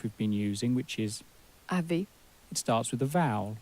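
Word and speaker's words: vous avez: in France is as Avi Avi so that s has more or less been crashed into the word that follows into the vowel and then it sounds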